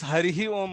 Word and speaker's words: Hari Hi Om: Whether that is the right pronunciation or how should it go? correct is Hari Hi Om only.